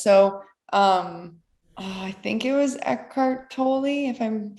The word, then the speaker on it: Eckhart Tolle: So, I think it was Eckhart Tolle, if I'm saying, is that how you pronounce his name?